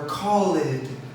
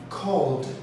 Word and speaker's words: called: So in this case, the important thing to understand is that we don't add another syllable when we pronounce the final D. So for example, we don't say learned or called. No, that's a common mistake. So we say called, learned, earned, phoned, warned, informed, etc., etc. It's a very soft sound just at the end. Don't put another syllable in.